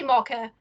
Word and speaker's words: Mocha: I say Mocha. I know that that's not right. No, Mocha I understand. Like a Pennington. lot of people from the UK say my name like that.